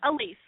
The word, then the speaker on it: Alysse: to the show hi hi now am I pronouncing your name correct yeah Elise and your last name I didn't Slaughter your